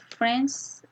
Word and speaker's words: friends: In the word friends, I don't pronounce the letter D.